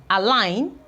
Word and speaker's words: align: have a sign assign there's not any form of G sound in the pronunciation align assign okay we have consign